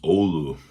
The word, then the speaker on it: Oulu: And in Finland, the Finnish city that it's named after is pronounced Oulu. But in America, we do find our own pronunciations of things a lot of times. So the Oulu Hotshots on the album